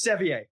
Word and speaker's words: Sevier: your last name neither do I no it's Sevier but I'll take it and that is much